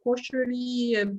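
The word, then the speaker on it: koshari: Now, is it pronounced koshery?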